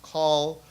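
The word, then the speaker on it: Coll: twitter by the way his name is pronounced call rhymes with dahl uh people should know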